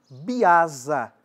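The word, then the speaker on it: biasa: Quando elas são independentes, tem-se um pantum comum chamado de pantum biaza.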